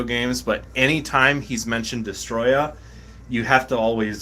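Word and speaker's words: Destoroyah: any five is correct so you got to be like destroya you know that's that's always just been a thing that's been the official pronunciation for uh people here in the states for a long time ever since ever since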